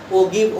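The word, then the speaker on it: ogive: इसी को हम लोग दूसरे नाम से जानते हैं, जिसको ओगिव ओजाइव जो बोलना है बोल लो, अलग अलग प्रोनाउंसिएशन किया जाता है, कोई दिक्कत नहीं है।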